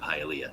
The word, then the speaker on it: Hialeah: any of the anxiousness just by the proper pronunciation of Hialeah, so thank you.